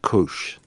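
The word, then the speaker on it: kuš!: It's a fun looking S with a with a a square above it and a exclamation point, but it's pronounced Kush.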